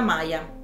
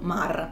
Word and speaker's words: Maar: Il suo cognome si dovrebbe pronunciare semplicemente Ma, però siccome non sono sicura e si scrive Maar, io lo pronuncerò così, come è scritto, Maar.